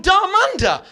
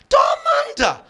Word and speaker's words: Dharmander: So I changed my name from Darmanda. Daranda, which is a wonderful three syllable spicy masala sounding name, isn't it?